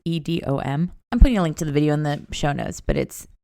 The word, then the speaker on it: Edom: Okay, yeah, that was the Blade Bar, and I think it's pronounced Edom, Texas, Edom.